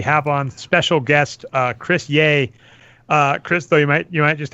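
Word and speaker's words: Yeh: That's spelled Ye, Y-E-H, Chris, just like it sounds.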